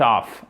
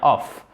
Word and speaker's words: off: I call it off. Et ce n'est pas of, c'est bien off. Of, c'est la prononciation de cette préposition.